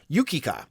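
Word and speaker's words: Yukica: frank and dennis who reminded me that it's pronounced yukika so it's joe yukika that passed away uh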